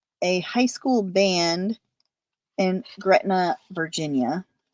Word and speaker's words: Gretna: high school band in Gretna Virginia I think it's pronounced Greta it's so the it's